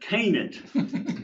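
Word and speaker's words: Kennett: Not in the bootill or that was Kennet. Kennet. Kennet. Well, and they pronounce it can down in the bootill.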